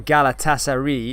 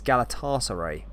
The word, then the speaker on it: Galatasaray: It's not Galatasaray, it's Galatasaray. I'll try my best to with the pronunciation, mate.